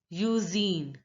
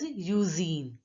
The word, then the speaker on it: usine: Usine. Now here, the INE is pronounced as een, een, een, and the U is pronounced as English alphabet U. So it is pronounced as usine.